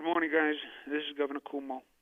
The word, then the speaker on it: Cuomo: it over to governor kumar good morning guys this is governor cuomo please pronounce my name correctly as you hear i'm melissa de rosa